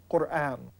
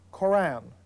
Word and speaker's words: Qur'an: the word of God, the Arabic word for recitation is Qur'an, or Koran, as we pronounce it in English.